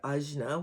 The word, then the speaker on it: Ajna: Today we're talking about the sixth chakra, the Agnea chakra, which is associated with intuition, wisdom. The actual word Ajna, which is one of the ways it's pronounced, is means pure and purification.